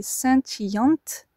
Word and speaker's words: scintillante: Passons maintenant à notre cinquième adjectif, scintillant au masculin et scintillante au féminin. Vous entendez la différence dans la prononciation, scintillant masculin et scintillante avec un E au féminin.